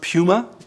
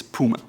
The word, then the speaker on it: Puma: It's not Puma, it's Puma.